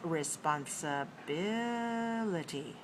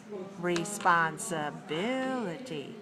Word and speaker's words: responsibility: in a high location the next word is responsibility responsibility how many syllables are there response five six six syllables